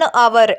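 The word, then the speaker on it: hour: वो है यहां पे ऐसे वर्ड्स जिसमें एच साइलेंट होता है जैसे एन आवर an honest person N नरे बल मैन वहां पे भी हम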